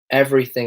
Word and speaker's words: everything: So this one is often mispronounced as everything, everything. So it's kind of like it's a heavily pronounced, and in the British accent it's quite soft. It will be everything, everything.